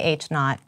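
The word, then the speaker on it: H₀: have arguments but occasionally so how do you pronounce it though you haven't told them uh o oh I say h naught and Gareth says something else that's hard to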